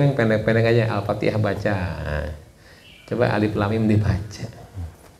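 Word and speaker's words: الم: Ustaz Semarang Ustaz katanya Ini bacanya apa Alama bacanya kok Alif Lam Mim Alama gitu saya melihatkan Qurannya kan dia enggak lihat Quran saya melihatkan Qurannya ini ada harakat fathah enggak enggak ada tapi kenapa ente baca Alama Iya terus bacanya gimana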